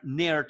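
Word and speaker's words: Naird: Y eso lo logramos ver a través del personaje del general Mark Nerd, que es otro juego de palabras. Nairt se escribe, pero es como si fuera nerd, ¿no?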